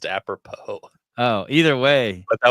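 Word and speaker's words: apropos: read Malcolm X's autobiography he uh he pronounced apropo a propus yeah I thought that was just a different version of the word I think it's just aopo Oh either way but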